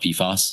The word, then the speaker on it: PFAS: the prior proceeding involving, I guess it's called PFAS. Is that the way we pronounce it? Yes.